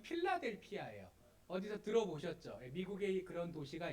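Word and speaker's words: Philadelphia: 오늘 본문의 빌라델비아 교회는 영어 발음으로 하면 필라델피아예요.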